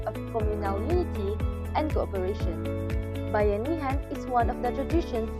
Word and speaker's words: Bayanihan: Pronounced like Bayanihan, Bayanihan is a Filipino word derived from the word bayan, meaning town, nation, or community in general.